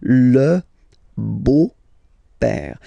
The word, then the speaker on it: beau-père: beau-père, the beautiful father, le beau-père. So remember this E-A-U combination of vowels only give you the sound O, beau, okay, le beau-père.